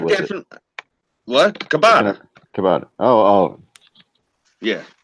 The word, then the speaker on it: ciabatta: Ciabatta. Oh. Yeah. I've always heard it pronounced ciabatta. Yeah, I've heard it pronounced that way too.